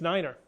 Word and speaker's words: Niner: be as one six Niner the number nine has its own pronunciation due to the fact that nine can sound like five when spoken quickly over the radio say Niner instead of 9 November six